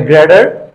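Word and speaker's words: greater: আগে আছে পরে আছে এজন্য তারা এটাকে গ্রেটার না বলে গ্রেডার এখানে দুইটা টি এর আগে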